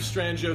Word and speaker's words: Strangio: My name is Strangio. Now sometimes I got to spell it out with a J, otherwise it's Strangio or Stranglo or Strangio. So it's Strangio. STRANGIO. Rhymes with banjo.